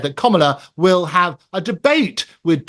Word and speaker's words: Kamala: It is Kamala, as in comma, the punctuation, and la on the end of it.